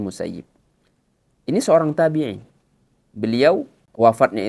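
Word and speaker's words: Sa'id ibn al-Musayyib: yang bernama Said Ibnul musayyib ya ada yang membacanya Said Ibnu musayyab tapi yang lebih tepat adalah Said Ibnu musayyib ini seorang tabiin beliau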